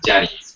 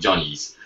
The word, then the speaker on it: Johnny's: We pronounce it Jenny's, but it's actually called Johnny's.